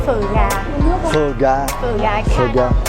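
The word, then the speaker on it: Phở Gà: The name of this restaurant is Pho Ga. Yes, Pho Ga. That's the correct pronunciation.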